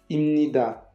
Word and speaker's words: 입니다: de prononciation du coréen, cette lettre, quand elle est placée avant cette lettre-là, elle se prononce comme ça. C'est pour ça qu'on prononce bien 입니다, mais ça s'écrit comme ça.